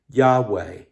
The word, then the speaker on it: Yahweh: In the Hebrew, it's just 4 letters, YHWH. We sometimes pronounce it this way, Yahweh.